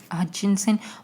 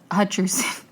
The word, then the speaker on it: Hutcherson: And side note, I Googled if he was like this actor, Josh Hutchinson.